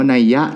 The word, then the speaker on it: นัย: ก็ มี วง เล็บ ใน ที่ เรา ออก เสียง ว่า นัยยะ เนี่ย นะ แล้ว ก็ โลก